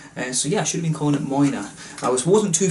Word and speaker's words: Moine: it says here so it says here on the front pronounced Mona so this is a